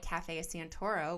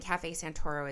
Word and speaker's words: Cafe Santoro: you that um the podcast is sponsored by Cafe Santoro, which is my parents boutique coffee shop and roastery in Northern California here.